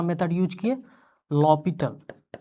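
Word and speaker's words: L'Hôpital: लॉपिटल। जिसको जो है कुछ बच्चे जो है इसको हॉस्पिटल भी पढ़ते हैं। 11 12th के बच्चे इसको जो है एल हॉस्पिटल रूल जो है पढ़ते हैं। यहां एच साइलेंट है। लॉपिटल है।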